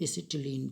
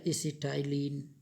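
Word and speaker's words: acetylene: दिए, तो इसको क्लोरो एसिटिलीन कह देंगे। ठीक है, एसिटिलीन या एसिटाइलिन कुछ भी कहिए, स्पेलिंग सेम ही है।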